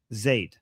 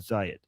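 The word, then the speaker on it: Zayed: Just Muhammad bin Zade. Zade, not Zed. But some people pronounce Zad.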